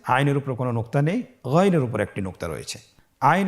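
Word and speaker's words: غين: ছাড়া বলুন আবার বলুন গন হরফটি মোটা অক্ষর উচ্চারণ করার সময় অবশ্যই মোটা করে বলতে হবে আইন এবং গন হরফটি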